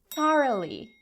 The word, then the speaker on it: thoroughly: No, it's not thoroughly, it's thoroughly. Thoroughly. You see, half the letters disappeared completely.